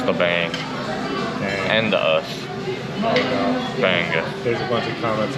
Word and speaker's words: bangus: Bangus. There's a bunch of comments now. Wait, did we pronounce it wrong?